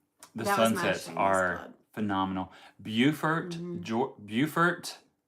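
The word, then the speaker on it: Beaufort: Bufort Bufort, South Carolina. It's not It's not Buford and it's not Bowford, North Carolina. This is Bufort.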